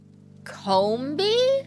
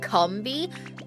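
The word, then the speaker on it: Combee: Otherwise, it sounds like Cumby. No. Com, as in communication, as in there's 3 of them together and they talk.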